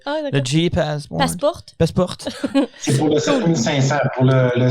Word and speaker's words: Passport: Passport, il faut le dire à la... Non, il faut le pas. Ça se prononce à l'européenne, à la française. Ah, le GE Passport. Passport.